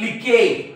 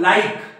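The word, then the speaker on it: like: पुस्तक उघडलं नसेल 100% तर याला काय म्हणतील लिके याला बिके याला शिने याला विने याला मिके याला चेंजे असं काहीतरी म्हणतील ते पण हा शब्द आहे लाईक हा एल म्हणजे ल आणि हा आय म्हणजे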